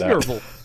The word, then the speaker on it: Nerval: Actually, I think it is Nerval.